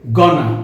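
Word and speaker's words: gonna: গোয়িং টু, এই দুটো শব্দকে সংক্ষেপে গনা উচ্চারণ করা হয়।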